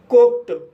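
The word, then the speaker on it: cooked: कुक कु शब्द में के के बाद ई डी जोड़ा गया है। इसलिए डी का उच्चारण ट होगा। इसलिए इसे कुक पढ़ा जाता है।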